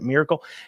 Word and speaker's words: Maracle: talk of Allen uh maracle I believe is how you say his name he kind of says it Miracle you may remember him